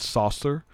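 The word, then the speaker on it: Saucier: So it's spelled saucer, but it's Saucer, Mississippi.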